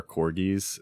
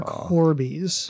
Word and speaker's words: corbies: look out for the dire corbies in the area they are deformed harpies that still sing siren songs of Doom and I thought you said dire corgis and I'm like yes big old corgis not dire corgis unfortunately dire corbies fine okay they're like disfigured